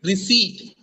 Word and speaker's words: receipt: is not received it's not received it is receip the pronunciation of this word is receipt not receipt